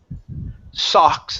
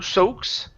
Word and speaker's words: socks: Next one here is socks instead of soaks.